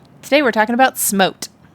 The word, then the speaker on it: SMOTE: Oh, there's no E at the end. Well, there's an E after in technique. Oh, jeez. Is it spelled with an E? Yes. Smote sounds better than smot, right?